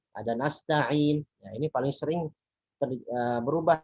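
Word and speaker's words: نستعين: Ada Al-Alamin, ada Nasta'in.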